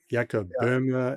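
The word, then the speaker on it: Jakob Böhme: I think there's some talk about uh is it is it is it Yaka Burma? Is that how you say his name? Yeah. Yakob Burma and and and France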